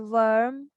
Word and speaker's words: worm: okay or word or worm w-o-r-m we are writing o-r but we are saying er so they there are